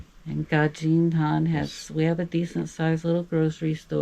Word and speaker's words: Gadžin Han: So, we're in the town of Gadžin Han. It looks like Gadžin, but it's pronounced the D the DŽ combination in Serbia is pronounced like a J, like in judge. So, it's Gadžin Han.